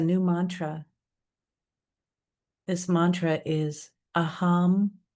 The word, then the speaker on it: aham: This mantra is aam prema. I'll spell it and then tell you its meaning.